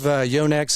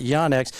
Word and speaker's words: Yonex: Yonex and everything that it's not yanex as we say in Texas it's Yonex right it's correct the correct pronunciation I think everybody around the probably the United States says yah but there's no yah in yo there isn't I mean